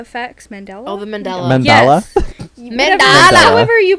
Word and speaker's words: Mandela: There's so many, but I have been really stuck on like mandala effects. Mandala? Oh, the Mandela. Mandela? Yes. Mandala. However you pronounce The it.